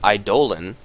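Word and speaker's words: Eidolon: the demonic conversions which i learned recently is pronounced idolan i don't know how reliably i can say that i'm probably just going to keep saying either on but it is technically pronounced idol and it's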